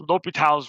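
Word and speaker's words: L'Hôpital's: It's pronounced L'Hopital's rule.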